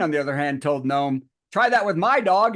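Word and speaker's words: Noem: you say it gnome gnome gnome is it gnome yeah was on Trump's list for the VP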